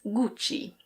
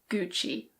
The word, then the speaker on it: Gucci: Here's another Italian brand. In Italian it's Gucci. Gucci. But in English we say Gucci.